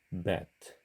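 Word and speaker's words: בית: 배트의 경우 한글 자음 비읍으로 발음을 하게 되면 베트 베트 이렇게 부드럽게 발음을 하게 돼요 하지만 유성음인 영문자 미로 발음을 하게 되면 bet 이렇게 발음합니다 배트에 비해서 매트는 바로미 더 강하죠 히브리어의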